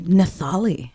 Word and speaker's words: Nathaly: Not Nathaly, as I just found out. The H is silent.